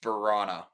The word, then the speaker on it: Vrana: It is pronounced Vrana.